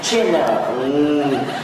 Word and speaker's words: Chanel: Đây nó gọi tên của nó ấy là Louis Vuitton Chanel. Chanel, em phải đọc là Chanel.